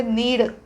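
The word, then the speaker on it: knead: असं लिहायचं नीड okay spelling मध्ये काय आहे के आहे के चा उच्चार म्हणजे क उच्चार आपण होतच नाहीये क चा उच्चारच करत नाही हो कनिळ असं काहीतरी आपण म्हणत नाही आहोत नुसतं म्हणतोय नीड के हे अक्षर सायलेंट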